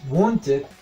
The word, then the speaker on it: wanted: Es muy ligero, es muy tenue, muy suave, pero aquí sí se va a pronunciar la ed como tal. Ed. Wanted. Wanted. ¿Por qué? Porque mi sonido final en presente es t.